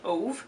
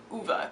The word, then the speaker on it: Ove: looking at the spelling it looks like ove but it's uva because i listened to the audiobook so i know how it's pronounced that's the nice thing